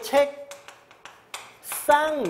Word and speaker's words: 책상: 요건은 밤이 색스 r 발음은 책 쌍이 이렇게 나겠죠 왜냐 방금도 같지만 기업 b 급이 업 으로 발음되는 받침 뒤에서는 뱅 소리로 가야 되니까 싸움으로 가는게 맞죠 여러분 요거 교체 연상